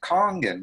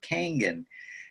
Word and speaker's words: Kangen: call it Kong's water eyes just because it's pronounced kangen not Canyon and if that beautiful lady in the machine